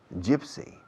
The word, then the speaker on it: gypsy: G-Y-P-S-Y. And how do you pronounce it? Gypsy.